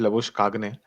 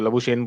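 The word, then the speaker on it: Labuschagne: उसने खुद बोली थी, उसकी प्रोनाउंसिएशन है लबुशकाग ने। उसने एक इंटरव्यू में बोली थी, मैं तब से वही बुलाता हूँ उसको, लबुशेन बुलाते हैं बाकी सब ऑस्ट्रेलियंस भी उसको लबुशेन ही बुलाते हैं।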